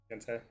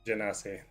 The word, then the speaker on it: Genasi: How do you pronounce that? Gensai? The little elemental dudes? Be like fire, earth, wind, water. Genasi? Genasi? Genasi. That's what it is.